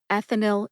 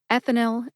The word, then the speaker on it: ethinyl: And put both words back together and you get ethinyl estradiol. Ethinyl estradiol. Emphasize eth in ethinyl and emphasize di in estradiol.